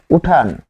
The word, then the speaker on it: উঠান: তারপর দেখুন উঠান। উঠান থেকে উঠানো উঠান থেকে উঠানো ফলে এখানে আমরা কি পাচ্ছি এখানে আমরা পাচ্ছি ন হসন্ত যোগ ও আর এখানেও পাচ্ছি ন হসন্ত যোগ ও এখানে কি ছিল ন হসন্ত যোগ সরে অ উঠান তাহলে লে এই যে উঠান এখানে ন এর সাথে অ আছে কিন্তু উচ্চারণে কিন্তু অ আসতেছে না।